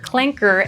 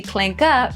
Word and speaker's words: clanker: with many users noting the hard r clanker ending pronunciation as opposed to the clanker pronunciation as denoting a certain level of nuance.